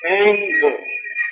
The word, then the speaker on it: ऐं: जैसे नवाण के 3 बीज है, ऐं ह्रीं क्लीं, उसी प्रकार से अष्ट लक्ष्मी के भी अष्ट बीज है।